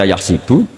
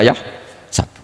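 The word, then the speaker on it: يحسب: Karena dalam qiraat sab'ah ada yang baca yahsibu, qiraat kita baca yahsabu. Tapi guru-guru kita kalau ngajar fikih itu bacanya yahsibu. Tapi kalau baca Quran yahsabu. Ya kan Quran kita kan ayahsabu Allah yaqdiru alaihi ahad, bukan dibaca ayahsibu.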